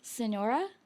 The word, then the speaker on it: Sonora: You're from, I'm going to say it wrong, Sonora?